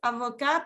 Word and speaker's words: avocat: Avocat, palta o abogado. Y si yo digo avocat y agrego una E, eso es abogada. ¿Ok? Avocat, avocat. En masculino no se pronuncia la T, pero sí en femenino.